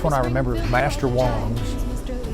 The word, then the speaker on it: Wang: Well, the first one I remember is Master Wong's, spelled W-A-N-G, but pronounced W-O-N-G, and the reason being